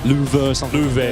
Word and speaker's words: Love: It's spelled love, but I believe it's pronounced like Lou.